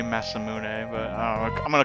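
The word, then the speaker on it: Masamune: imune I call the mass immune also yeah but I guess the the actual Japanese pronunciation would massamun it should be massamun but I I'm going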